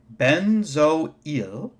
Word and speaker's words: benzoyl: acid we put yl chloride so this is pronounced benzoyl so we actually this is actually two syllables